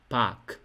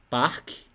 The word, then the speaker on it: Park: Então, você vai falar só assim, ó, park, park, por incrível que pareça. Você será compelido a dizer parque, mas não é assim. Não é assim. Então, é Park.